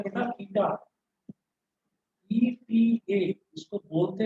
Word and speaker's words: eta: इसको बोलते हैं बेटा ईटा, ETA इसको बोलते हैं, प्रोनाउंसिएशन है इसका ईटा।